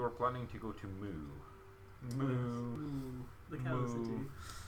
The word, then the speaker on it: Mu: Well, I believe you are planning to go to Moo. Ooh, the cow city. M-U. Mew, technically. I think it's Mew, the way you pronounce it.